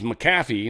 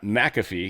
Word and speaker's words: McAfee: So this is Macaffy, not McAfee. Even though everyone says McAfee, it's Macaffy. Pisses me off.